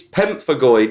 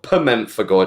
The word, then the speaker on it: Pemphigoid: And he was like, it's Pemphigoid, not Pemphigoid. I'm like, oh, for fuck's sake, I can't do nothing right. I didn't know you'd pronounce it as goid. I thought it was gold.